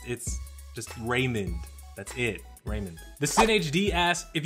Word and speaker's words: Raymond: Jeff a none of that my name is Raymond re y mo and D which you would